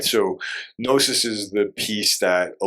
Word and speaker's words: gnosis: So on the last note, gnosis. So it's not gnosis, ladies and gentlemen. It's not GNOSIS. It's the G is silent, as I've learned today.